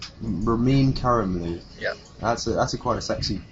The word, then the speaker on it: Ramin Karimloo: I've forgotten how to pronounce it already. Ramin. Yes, sir. Ramin. Okay. See, that's why we dropped the last name. First name's hard enough. Ramin. What's the last name? Karimloo. Ramin Karimloo.